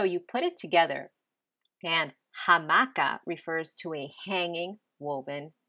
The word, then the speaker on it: hamaka: let's tackle hammock hamaka how do we know that it's actually ha and not just a well let's break it down to its word parts the word part ha appears at the beginning of words for anything that hangs okay so we know a hammock hangs so that starts with a ha the word part